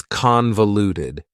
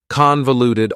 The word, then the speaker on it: convoluted: have for you is convoluted. Convoluted also has four syllables and the stress is on the first syllable. Convoluted. That second syllable again has that schwa sound, that reduced vowel sound. Uh, convoluted. Convoluted.